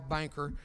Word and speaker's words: Boenker: It's spelled Boenker, a man who's very rich. His name is Al Banker.